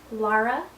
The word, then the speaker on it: Lara: my name is pronounced lara uh lara like laura from dr zhivago or lara croft from tomb raider a lot of people pronounce it laura and i don't really